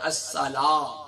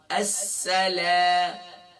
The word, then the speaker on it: السلام: ہم پڑھتے ہیں الصلا، الصلا نہیں ہے، السلام، لام الف زبر لا، نہ کہ لام الف زبر لا.